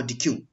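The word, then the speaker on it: deque: queue is in short called as dq pronounced as dec or dq adq is a linear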